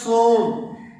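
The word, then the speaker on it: צום: عبرانی زبان کا جو روزے کے لیے لفظ استعمال ہوتا ہے وہ ہے صوم، اور اس کی جو بنیادی روٹ ہے اس کا تلفظ صوم ہے.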